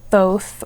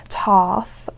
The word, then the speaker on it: Thoth: And you can pronounce this many different ways. Um, both or tooth or um Thoth.